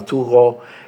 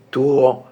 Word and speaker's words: Thoreau: Cuando en ese tiempo que yo admiraba, o que yo leía muchísimo a Thoreau y me impresionaba mucho su relación con la